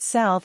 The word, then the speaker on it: salve: Greet people with salve in neutral situations. Pronounce salve as sal, ve.